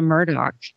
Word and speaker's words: Murdaugh: kind of like the Murdock you know pronunciation there's something to that so I suppose it's just a regional thing and and it would